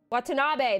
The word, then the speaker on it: Watanabe: I've never had to pronounce that. And I hope I did her justice. Watanabe, that's how you would do it.